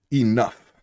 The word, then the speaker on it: enough: Now what part is saying in enough? OU is saying What part is saying f? GH is saying f. So enough.